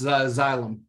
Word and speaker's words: Xylem: pronounce that? It's Xylem. Xylem?